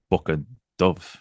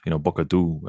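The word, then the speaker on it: Bucca Dhu: I've seen in books, is Bucca Dove, Bucca Du, as it's pronounced in Cornwall, I believe.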